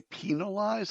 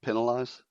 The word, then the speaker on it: penalized: So So first of all, you say penalized is not penalized. Penalized. How do you say it? Penalized. Penalized. Huh? You you emphasize the penal.